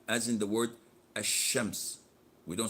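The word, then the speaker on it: الشمس: say L Z well as in the word a shemp's we don't say al-shams this is why they call this L a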